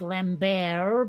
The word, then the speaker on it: Lambert: first thought was Christopher Lambert of course he probably pronounces it all fruity like lamb bear but